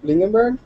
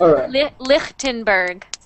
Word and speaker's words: Lindenberg: continue uh J Lind lindenberg is that right uh actually that's a German name so it's it's pronounced lenberg okay J lenberg has